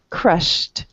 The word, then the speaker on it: crushed: He said it with the T. Crushed, rushed.